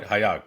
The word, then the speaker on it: HAYAG: Today we're delighted to have our guest Hema Lakkaraju, who is the founder of HAYAG Corp. Did I pronounce it right? HAYAG, correct?